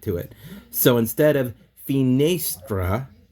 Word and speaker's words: finestra: So the right pronunciation for the word would be finestra.